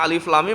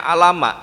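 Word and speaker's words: الم: dia membaca surah Albaqarah harusnya alif lam mim malah dibacanya alama itu cah SMA loh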